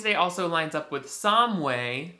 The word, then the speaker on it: Samhain: All Saints' Day also lines up with Samhain. Look at how that's spelled. It's not how you're supposed to say it, that's all I know.